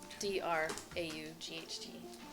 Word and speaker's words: draught: You are making a draft, so you can write this down. D-R-A-U-G-H-T. What did you roll? Oh, are you doing it? Yes. I'm sorry. You said D. D-R, like draught, but it's pronounced draft.